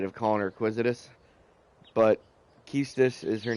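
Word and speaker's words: Quistis: or this game and said that the correct pronunciation is Kista s' so I'm trying to break that habit of calling her acquisitive but Kista is her name and she's probably my favorite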